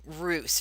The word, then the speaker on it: Reuss: But here's the thing: there was a young senator from Wisconsin, Henry Roos. It's spelled Reuss, I believe.